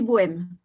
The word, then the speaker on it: Bo'M: Taya qui s'appelle esprit bohème si je puis dire alors bohème attention ça s'écrit BO apostrophe M parce que mes trois enfants leur prénom qui commence par M voilà voilà et alors